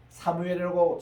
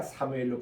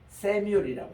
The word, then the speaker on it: 사무엘: 그래서 참 이런 좋은 사무엘 이러는데 사무엘이라고 정확하게 발음하는 것은 세계에서 우리 한국 사람하고 스페니시가 사무엘로 그대로 그 발음 그대로 합니다. 근데 미국에 가면은 이거를 세뮤얼이라고 이렇게 번역해요.